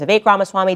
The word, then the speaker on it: Vivek Ramaswamy: I was saying Vivek. His name is Vivek Ramaswamy.